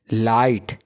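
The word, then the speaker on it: light: का ई लाई ट जी एच है ना का जो है प्रोनंसिएशन क्या कैसा हो गया है साइलेंट क्या हो गया है साइलेंट देखो जीच को नहीं पढ़ा अपने डायरेक्टली किसको पढ़ा टी को लाइट समझ ना सिमिलर अब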